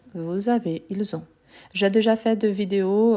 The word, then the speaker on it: ils ont: Donc vous avez, ils ont, le S avec les sons du Z et le T, je ne le prononce pas.